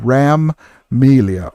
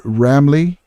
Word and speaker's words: Ramelia: So Ramelia or Ramley, same thing. Okay, just pronounced differently.